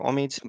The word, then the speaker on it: Omid: My name is Omid or Omid. Both pronunciations are correct. Omid is how it's usually said in English. Omid is what my mother calls me. It's how it's said in Farsi.